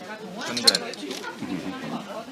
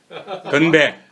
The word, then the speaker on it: 건배: Yeah, 근데 건배. How do you spell it? G-U-N-B-A-E. So the G is a little bit like have an H in it. Yeah, kind of an H.